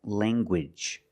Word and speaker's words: language: hard g sound, like language. Language. You have the nasal sound, lang, and the hard g. Gwidge.